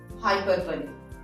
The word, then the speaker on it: hyperbole: Pronunciation को focus करिएगा, हाइपरबोली।